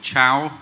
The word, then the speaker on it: Caio: My name is CAIO. People usually call me Chow. You can see from the way that the name is spelled.